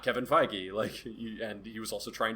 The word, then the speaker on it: Feige: I mean, this guy gets enough praise, but like the difference between Star Wars and Marvel is Kevin Feige.